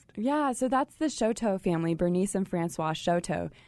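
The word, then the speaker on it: Chouteau: to Kansas City, they're thinking, "How do you pronounce that? Well, if you if you're wondering, it is showto. It is showto.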